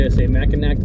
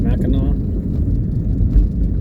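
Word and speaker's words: Mackinac: Are the Mac as some people would be just see Macinack Bridge because it's spelled M M A C K I N A C pronounced Mina over to my left there's a sports club sports shooting place.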